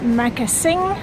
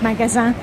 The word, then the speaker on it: Magasin: There we are, Magasin. That's how it's pronounced in Danish, of course, from the French magasin.